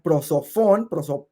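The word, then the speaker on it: πρόσωπον: Dice que la persona, viene una palabra, que bueno, es la palabra griega prosofón, se escribe prosopón, PH, prosofón, que era la máscara que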